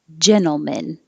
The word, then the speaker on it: gentlemen: the man part and we don't really say it like man like gentle man it's pushed together as one word now and the stress is on the first syllable gentlemen we don't have to say that t gentlemen and so they